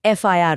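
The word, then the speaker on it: FIR: तो पुराने रूल के हिसाब से तो ए एफ आई आर होना चाहिए। पर जब हम इसे बोलते हैं एफ आई आर तो पहली आवाज एफ यानी हिंदी के ए की आती है।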